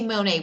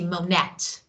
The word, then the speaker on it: Monet: For example, Monet ends in T, but we say Monet, we don't say Monette. It's T, Monet, but T is not pronounced.